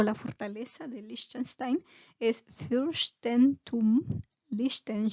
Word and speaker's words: Liechtenstein: no sé no nunca he escuchado que se pronunció en español liechtenstein no sé pero en alemán es liechtenstein y pues era un imperio se dice que